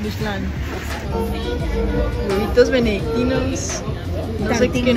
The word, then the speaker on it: Michelin: Este lugar no tiene estrellas Michelin. No sé por qué, pero debería tener. No, no, no se dice Michelin. ¿Cómo se dice? Michelin. Michelin.